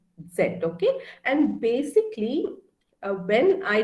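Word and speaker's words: ß: is new to german is uh called as set and as i said it looks like a beta symbol okay and it's pronounced as s set okay and basically when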